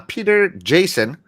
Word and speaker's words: Peter Jason: giz of War uh Peter Jason yeah I said it right this time should I I know